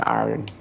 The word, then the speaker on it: iron: I said stop pronouncing the R in iron. It's iron.